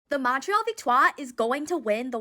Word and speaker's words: Victoire: How do you pronounce Vikto? I'm American so on the English broadcast are always saying Victto. When I finally went to Montreal, everybody was saying Vikto.